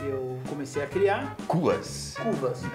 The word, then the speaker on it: Kuvasz: Cuvas. Isso. É um pastor húngaro. Esse é a pronúncia correta. É, na verdade, no singular é Cuvas, no plural é Cuvasok.